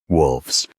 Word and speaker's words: wolves: In the plural form, that f changes to a voiced f sound before the plural ending. Wolves, wolves, wolves.